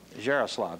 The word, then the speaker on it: Jaroslav: This is Nina Jaroslav. Is that pronounced properly? Yes, that's proper. That is right.